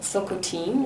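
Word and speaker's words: Tsilhqot'in: mentioned earlier where the silk routine which is how I've now realized the word is actually more appropriately pronounced in Chilcotin and that choco caribou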